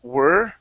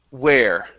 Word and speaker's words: where: you had it you you pronounced it as were. Okay. And then here you had said where. Yeah. Okay. So it's the exact opposite.